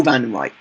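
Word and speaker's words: Wandenreich: said Vanden Reich, but because it's German, W becomes a V sound, so it is still Vanden Reich, but it is spelt with a W.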